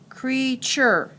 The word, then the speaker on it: creature: r e sorry t-u-r-e so this says chur and this says creature treasure you hear the